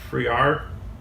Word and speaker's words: Friar: CFO of Square, Sarah Friar, or Fryer. So I think it's pronounced Fryer.